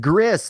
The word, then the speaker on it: Gris: you said it right Gris like Chris it is uh it